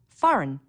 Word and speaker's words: foreign: notice the silent B foreign a g that you don't hear Wednesday don't forget the